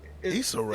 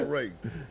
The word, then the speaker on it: Issa Rae: Issa Rae. Is a Ray? Issa, it's not Issa Rae like it's a ray of sunshine.